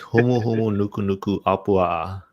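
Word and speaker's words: humuhumunukunukuāpuaʻa: It's humu humu nuku nuku apua.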